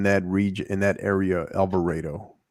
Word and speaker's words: Alvarado: you pronounce it rafa they pronounce it they pronounce it in that region in that area alvarado it's kind of it's kind of like celina